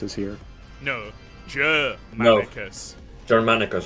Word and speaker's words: Germanicus: Grammaticus is here. No, Germanicus.